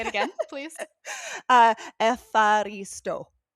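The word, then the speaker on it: ευχαριστώ: I'm like literally pronouncing it. Okay, say it again, please. Uh, epharisto.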